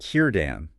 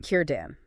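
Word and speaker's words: Círdan: For those Elvish names starting with C, we're using that hard K sound. So Kurten is pronounced Kiran, like Kir then Dan. Kiran.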